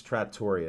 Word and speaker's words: Trattoria: Come out to the Village Tavern and Trattoria, they call it. So we'll be Trattoria? there. No, it's Trattoria is the proper pronunciation, I found out.